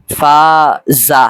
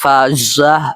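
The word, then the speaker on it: فاژه: করে থাকি এখানে যেই ফা যা এরকম উচ্চারণ করলে ভুল হবে বরং এখানে যা আপনি যতটা শক্ত করে মোটা করে উচ্চারণ করেন তার থেকে আরো বেশি মোটা করতে হবে এখানে অর্থাৎ উচ্চারণ করতে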